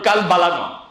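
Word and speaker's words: قلب: ওটার উচ্চারণ জিহ্বার একদম গোড়া, ওই গোড়া বরাবর উপরের সাথে লাগবে। জিহ্বার গোড়া, গোড়া থেকে যদি নড়চড় হয় তাহলে সঠিকভাবে উচ্চারণ হবে না।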